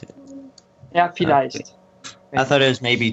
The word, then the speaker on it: vielleicht: I've never seen it spelled, so I didn't know how to pronounce it. Yeah, vielleicht.